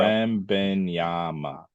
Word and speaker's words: Wembanyama: Wembenyama.